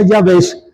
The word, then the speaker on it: Jabes: escribe en hebreo javes Cómo se pronuncia se pronuncia yaves y significa seco o